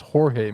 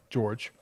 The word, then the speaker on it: Jorge: correction real quick it's his name's pronounced jorge masterball not george did i say george